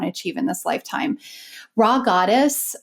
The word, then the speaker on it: Rha Goddess: achieve in this lifetime raw goddess and that's spelled rha goddess recently uh published a